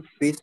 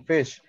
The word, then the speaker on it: fish: right first of all some people pronounce this word incorrectly instead of saying fish they say fis so etu kisumanor bhul